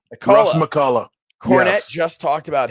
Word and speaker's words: McCullough: How do you pronounce the name? McCullough. Russ Acola. McCullough.